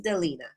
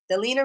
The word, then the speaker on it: Delina: Her name is pronounced just like I'm Shalina, she's Delina. Delina Rusan.